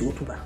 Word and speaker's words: Hotuba: va faire des couches Otuba. Tu as de quoi noter? Écris. Otuba s'écrit. H comme hôtel, O comme Oscar, T comme Tango, U comme Hugo, B comme Brigitte et A comme Agathe.